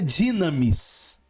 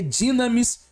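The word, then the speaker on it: δύναμις: esse U aí é um Y Então se pronuncia dinamis se escreve dinamos mas a pronúncia é dinamis porque é um um é no no grego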